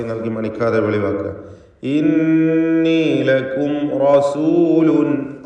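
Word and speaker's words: رسول: ഇന്നി ലക്കും റസൂലുൻ. റസൂലുൻ, റായിനെ തടിപ്പിച്ച് തഫ്ഖീം ചെയ്ത് ഉച്ചരിക്കുക.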